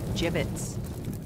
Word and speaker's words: gibbets: here hit end Hey look Avery had some gibbets left over gibbets what it's apparent it's pronounced jibbets are you sure yeah well no one likes